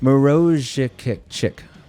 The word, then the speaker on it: Maruszczyk: Pronounced kind of a bit like Maruszczyk. Nailed that. I nailed it. I absolutely nailed that. Really got to roll the R's a bit.